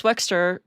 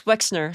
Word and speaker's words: Wexner: Because Les Wexter, yeah, Les Wexner, sorry, I keep getting his name wrong.